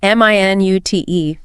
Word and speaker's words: minute: Okay, first pronunciation. Stress on the first syllable, short I sounds. That's the unit of time. Wait a minute. And the second. Stress and gist. Stress on the second syllable. Long yeah sound in the first syllable, long yeah in the second. It's an adjective meaning tiny, very small. Minute details. Stress versus menschik, and the